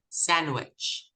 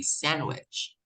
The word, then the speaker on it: sandwich: pledge grudge grudge Dodge sandwich sandwich there's no D you don't pronounce the d is a sandwich okay we we pronounce